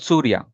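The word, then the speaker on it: Suriya: It's same like the Surya Kumar Yadav, but Okay, spelling is different, but still the pronunciation will be same. It's called Surya. You can say Surya. The spelling is Surya, but when we say it fast, we say Surya.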